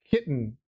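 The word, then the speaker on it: chitin: of moment almost almost oh it's pronounced kitten what is what the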